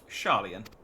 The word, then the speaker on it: Sharlayan: As Thancred so eloquently pointed out, we are in a position to seek information from all manners of places, not least Sharlayan. Yeah, I am pronouncing that right.